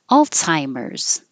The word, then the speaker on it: Alzheimer's: rules in explicit implicit Alzheimer's it looks like a z but we do change it to a TS alts Alzheimer's and the final s is a z so this Z changes